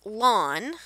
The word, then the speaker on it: ln: And this here, it looks like in, but it's pronounced lawn, like your grass.